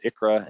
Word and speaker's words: ICHRA: So again, big acronyms, ICHRA and QSERA is how we're pronouncing these acronyms.